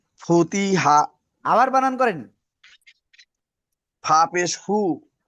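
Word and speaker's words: فُتِحَا: হাপেশফু তজেতি হাজাবর হা ফুতি হা। আবার বানান করেন।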